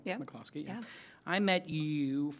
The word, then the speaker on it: McCloskey: I'm pronouncing it right? Yeah. McCloskey.